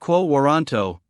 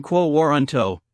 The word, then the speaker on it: quo warranto: The term quoanto pronounced both quoanto and quoanto is Latin for by what authority as in by what authority does this person hold this office.